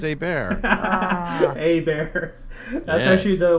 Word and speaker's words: Hebert: um Kyle hbert right haybert Hebert not even close bear no no no not even a not even hay bear it's h is silent E is like an a a bear a bear a bear